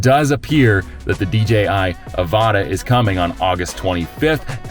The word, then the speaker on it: Avata: the DJI Avata, that's how you say it, Avata, is going to be released on August 25th at 9 a.m.